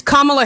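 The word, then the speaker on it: Kamala: times why you keep why you guys keep pronouncing her name like that is Beyond me it's KLA Harris okay my apologies how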